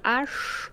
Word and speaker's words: Ash: Mandy, ich bin Ash. Wie wird das ausgesprochen? Ach, wie Arche Noah.